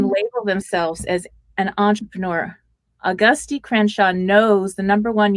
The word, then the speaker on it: Auguste: It's whatever registers in everybody's mind, but at least you said Auguste. I've had people say like Augustine, and I'm like, that's not even phonetically possible.